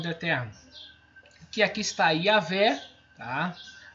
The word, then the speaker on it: Yahvé: Que aqui está Yahvé, tá? É bem interessante esse início da pronúncia, foi colocado com I, mas não vejo problema nenhum, muitos tradutores colocam, ou Y, mas a fonética não muda, Iá.